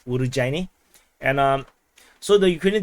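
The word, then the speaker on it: Urozhaine: fire damage on Ukrainian uruzani uh or someone in the comments said is supposed to be pronounced as urugu uh because uh z h is supposed to be a j so urujaini and um so the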